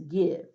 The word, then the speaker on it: give: are you notice that I is making this short I sound the word isn't guys is give solve remember he never